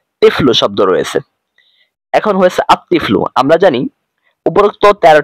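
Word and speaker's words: الطفل: আমরা আলিফ লাম যুক্ত করব তখন হয়ে যাবে আত্তিফ্লু দেখুন তিফ্লুন এরপর একটা টান রয়েছে এরপর আলিফ লাম রয়েছে এরপর প্লাস রয়েছে এরপর তিফ্লু শব্দ রয়েছে এখন হয়েছে আত্তিফ্লু আমরা জানি উপরোক্ত 13 টি হরফের মধ্যে থেকে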